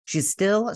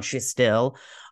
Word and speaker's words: Shtisel: She was on Shtisel, or Shtisel. Is that what you guys say? Anyways, we pronounce it Shtisel.